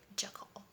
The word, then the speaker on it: Jekyll: Yeah, I had to look it up how to pronounce it. Apparently there's some debate, but I'm just gonna go with what I found, which is Jekyll, I guess.